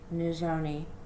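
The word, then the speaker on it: Nizhoni: before meet nizoni begay her first name is pronounced new zoni i hope i did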